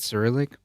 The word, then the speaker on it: Cyrillic: Is that how you pronounce it? Cyrillic?